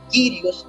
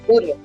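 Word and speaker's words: κύριος: Y tenemos la otra palabra es Kyrios o Curios, dependiendo si estoy utilizando el sonido alejandrino, se dice Kyrios, y si utilizo el bizantino, dice Curios.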